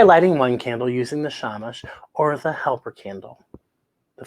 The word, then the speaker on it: shamash: you might be celebrating the word shamash is hebrew and is pronounced shamash the yiddish word it